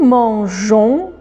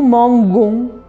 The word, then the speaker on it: mangeons: pouvoir le prononcer G parce que un G et O, ça se prononce go, une gomme par exemple. Donc ça aurait fait nous mangons.